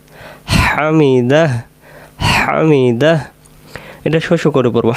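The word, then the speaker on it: حمده: পড়ার তাহলে আমরা বলব সামি আল্লাহু লি মান হামিদাহ হামিদাহ হামিদাহ এটা শসু করে পড়ব হামিদাহ আমরা অনেকে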